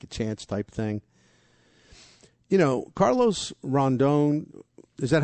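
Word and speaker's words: Rodón: Carlos Rondon, is that how I say that? Or I always say his name wrong. Yeah, Rondon.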